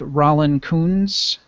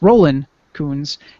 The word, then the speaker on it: Roland Coons: about the episode with Rand Coons and I'm sorry I keep saying his name wrong I feel bad uh it's Roland Coons and talking about art